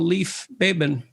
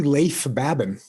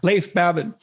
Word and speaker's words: Leif Babin: the dichotomy of leadership with fellow retired seal leaf babin would i pronounce that right it's actually leif babin oh so i didn't pronounce it right at all leif babin he hosts a weekly podcast with brazilian jiu